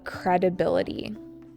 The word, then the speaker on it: credibility: This is called credibility. Credibility with an emphasis on the B, the third syllable.